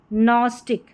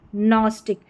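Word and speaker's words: gnostic: नोम, no, Nash, यहाँ पर है नेट, और ये है नॉस्टिक। क्या है? नॉस्टिक। GN को पढ़ा न, क्योंकि G जो है वो साइलेंट है।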